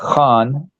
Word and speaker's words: Khan: there the boss there Tony Khan by the way it's pronounced Han okay I I get